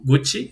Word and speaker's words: Gucci: Gucci, Gucci, sí, se pronuncia doble así. C es como CH.